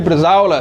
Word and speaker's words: bresaola: And uh when you say it, you've got to say it like Jeremy Clarkson. Bresaola. No, you know he always says yes. All right, yeah. And he goes really deep with it.